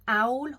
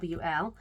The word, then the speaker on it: awl: of glue on it an owl or an all however you like to say it I always say it wrong it's awl this is um a little